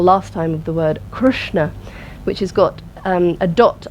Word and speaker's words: Krishna: roof of the mouth Krishna try that so it's not pronounced Krishna let's try that Krishna which has got an iron in there's no eyes crush you'll feel it's having